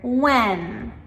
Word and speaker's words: when: And the same thing with when, W-H-E-N.